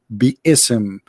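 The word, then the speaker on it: بسم: Even they agree, all the sheikhs agree that the word is not Bism, it is Bi-ism.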